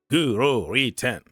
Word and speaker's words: Guro Reiten: So it was Guro Reiten. Guro Reiten. That's how she pronounced her name.